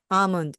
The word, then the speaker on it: almond: 어라고 말을 합니다 아몬드는 영어로 am 아몬입니다 a 다음에 나오는은 음이기 때문에요 몬드가 아니고요 먼 먼 앞부분을 강하게 해 주시기 바랍니다 그래서 나는 아몬드를 좋아해요